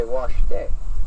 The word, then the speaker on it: washte: Now say washte. Washte. Oh, she's even got the right emphasis on the right syllable.